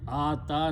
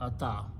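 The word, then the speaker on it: آتى: So the word is ata, not ata.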